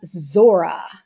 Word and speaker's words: Zora: plate blazoned with the name Zora of course that rhymes with Lora but also happens to